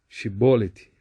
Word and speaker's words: Chibolete: lendo aqui no rodapé os efraimitas falavam um dialeto hebraico Com pequenas mas sensíveis diferenças na diferenças na pronúncia o nome chibolete significa entre aspas inundações Salmos 69 2 salmo 69 15 e no seu falar o som entre aspas ch era semelhante ao nosso entre aspas s o SH era semelhante